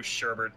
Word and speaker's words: sherbet: Everybody knows explosions beat blue sherbet every time. You know, I that word bothers me because people pronounce it sherbet all the time, but they spell it without the second R in there, like all the fucking time.